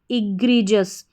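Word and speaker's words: egregious: फिर से देखें, ई पढ़ा, ई को EGRE ग्री, इग्री, और GIOUS जस, इग्रीजस, इग्रीजस। इग्रीजस का हिंदी अर्थ होता है बहुत बुरा, ठीक है, इग्रीजस।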